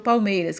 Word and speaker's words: Palmeiras: pelo time do Palmeiras uma dessas sílabas é pronunciada com mais força você demora mais falando ela ó o Palmeiras então aqui o mei eu demorei mais falando então vai ser essa daqui assim ba tônica ou seja